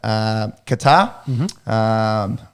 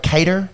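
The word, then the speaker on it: Kattar: Arnold Allen, he's another POM, called out Calvin Qatar. I think that's how you pronounce it. I've heard Cater before, but I think it's Qatar.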